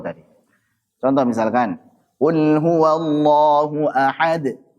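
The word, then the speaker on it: أحد: contoh misalkan Qul huwallahu ahad ahad bukan mengakhirinya dengan Hamzah tapi apa menjelaskan Qalqalah tersebut Walaupun sebagian enggak setuju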